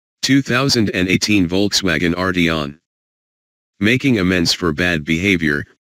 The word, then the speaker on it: Arteon: Phonetically, Volkswagen's new flagship is Arteon. Philosophically, it's art plus 3 letters tagging along for the ride. Think of it as the Arteon and you'll mispronounce it but nail the idea.